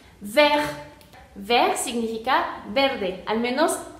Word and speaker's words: vert: Después tenemos el caso de la T final, entonces la eliminamos y tenemos la palabra vert.